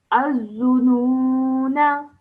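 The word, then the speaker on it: الظنونا: So when we're pronouncing it whilst reading, you don't pronounce it, but when you're pausing, then you do pronounce it.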